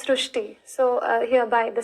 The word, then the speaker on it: Srushti: So in Marathi, the word Ri is pronounced as Ru. So that is why the pronunciation goes SRUSHTI.